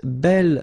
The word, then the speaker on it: bel: Okay, remember you pronounce it belle, so like the feminine version, but then you write it B-E-L.